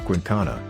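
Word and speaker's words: Quinkana: frightening because of the quincana pronounced quincana an eight-meter-long reptile with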